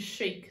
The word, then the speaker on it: chic: me shoot ch ute our next word is chic c'est Chic designers will describe their clothes as